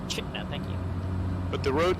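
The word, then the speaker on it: Chitina: Chitna, as the locals say. Chitna, thank you.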